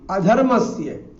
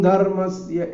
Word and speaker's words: अधर्मस्य: प्रायशः उत्तर भारतीय जो है अपने उच्चारण दोष के कारण से बीच में आने वाले ना और मां को लगभग आधा कर जाते हैं, इसलिए वो अभ्युत्थानम धर्मस्य ऐसा पढ़ जाते हैं।